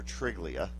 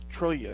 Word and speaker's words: Triglia: I'm not going to butcher it, so I'm going to I call him Dr. Triglia, but it's Dr. Trillia, isn't it? Trillia. Trillia. The G is silent.